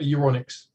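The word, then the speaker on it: Euronics: to go okay and that's e-u-r-o-n-i-c-x right electronics but uronics uronics there it's in the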